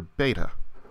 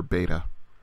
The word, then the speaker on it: beta: outline of a letter beta the sound is just like our B as in bird in later Greek it came to be softened to more of a sound like V and so in modern